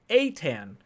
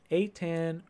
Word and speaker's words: Eitan: Eaton Ritter says it's pronounced Atan. But no worries, Ryan. Atan Richter.